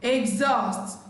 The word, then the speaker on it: exhaust: Letter H is silent in the word choir, exhaust, ghost, air, not hair, not higher.